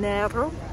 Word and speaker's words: Nero: And it occurred to me that I keep on pronouncing Nero's name Nero. It is actually pronounced Nero, that's just how I say it.